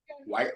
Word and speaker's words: White: last name M white correct that's right white like the color is a